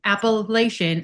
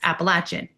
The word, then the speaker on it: Appalachian: And I think it's funny that down south like they say it like how you say it, Appalachin. Mhm. Well, I would say Appalachian until I was in that area and they scolded me and told me it's Appalachin.